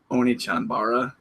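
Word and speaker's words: Onechanbara: Oni-Chanbara.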